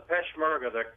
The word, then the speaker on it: Peshmerga: I know you spent a little over a year embedded with the Peshmerga forces. Am I saying it right? Yeah, the Peshmerga, the Kurdish fighters, which, by the way, that's